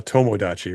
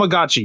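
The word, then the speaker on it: Tamagotchi: You mean a tomagotchi, not a tommoachi, right? Tom tomagotchi.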